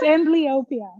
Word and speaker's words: amblyopia: Emblea. Nobody knows how to say this thing. I only know because I've been talking to the doctors. It's amblyopia. Okay, amblyopia. Amblyopia.